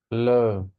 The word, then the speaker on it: low: لو. لو. لو يعني قليل أو منخفض. تمام. لو الدبليو بتتنطق واو زي ما احنا عارفين.